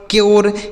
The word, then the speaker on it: cure: अगर किसी भी शब्द में U के बाद RE लिखा गया हो तो उस U का उच्चारण हमें क्या करना होगा? योर कर देना, सॉरी यो कर देना, जैसे प्योर, क्योर, श्योर, ड्योर, म्योर।